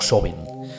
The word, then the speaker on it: Samhain: Insisto, en gaélico irlandés se escribiría Samhain con A y se puede pronunciar como Sobin, algo quizá un tanto más rebuscado en cuanto a la escritura.